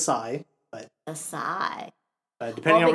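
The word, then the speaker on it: açaí: Kai a a I I did look up the actual pronunciation it is aigh but aai but depending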